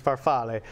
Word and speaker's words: farfalle: and again that's farfalle if you want to say the actual pronunciation is farfalle so this is great